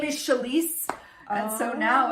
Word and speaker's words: Chalese: confident with saying my name my name is chalice and so now it's just like that's yeah